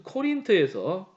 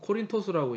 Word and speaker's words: 코린토스: 엉뚱한 사건이 벌어지는데 오이디푸스가 떠나온 자기 고향이라고 할 수 있는 그 코린트에서 코린토스라고 이제 표기가 나오죠. 이게 이제 오리지널 발음이고 저는 이제 코린트라고 하는 거는 말 한마디 줄이려고 이제 경제적으로 이제 코린트라고 그러는데 코린트에서 사자가 오는 거예요.